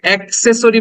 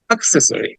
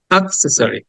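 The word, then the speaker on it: accessory: এর মত দেখো ঠিক প্রথমে যে সাউন্ডটা দেখতে পাচ্ছি আমরা উল্টা ই এর মত যেটা এটাকে আমরা বলি শর্ট আ মানে জাস্ট সামান্য করে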